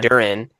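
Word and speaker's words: Duren: Jaylen Duro. Why am I saying his last name wrong? Jaylen Duran is averaging like 23 points and like 12 rebounds a game.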